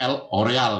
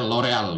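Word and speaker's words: L'Oréal: Nah ternyata ini yang punya L'Oreal ya, bacanya L'Oreal gitu. Kalau kita di Indonesia L'Oreal gitu.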